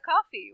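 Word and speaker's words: Ko-fi: So if you would like to support us and help us with our bandwidth costs, you can buy us a coffee, which is spelled KOFI.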